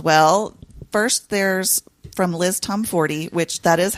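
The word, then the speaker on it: Tomforde: a couple as well first there's from Liz Tom fory which that is how you say her name I always thought it was tomford but when I saw her in Chicago it's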